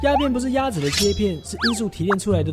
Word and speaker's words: 鴉片: ( Opium is called “Ya Pien” in Chinese; “Ya” pronounced the same as “Duck” while “Pien” means “Slice”) It is an all-in-one